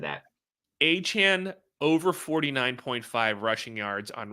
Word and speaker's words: Achane: I never know how to pronounce this. Every radio host says it. Is it Achane or it's Devon Achane?